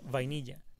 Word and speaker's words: vainilla: She named the island Vainilla, because that is how vanilla is pronounced in Spanish, and it's a sweet name.